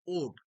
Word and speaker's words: ode: কি ওড কাকে বলে অনেকে উচ্চারণ করে অট কিন্তু মোটেও না এটার উচ্চারণ হচ্ছে ওড so what is অ্যান